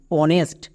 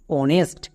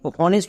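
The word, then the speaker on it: honest: যেমন অনেস্ট। এখানেও কিন্তু এইচ এর উচ্চারণ হবে না।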